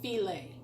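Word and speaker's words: filé: very specific Cajun ingredients first one is gumbo feeling it's spelled like file1 file2 can pick this up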